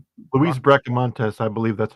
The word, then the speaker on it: Bracamontes: Luis Breantes, I believe that's how you say Breaka Montes.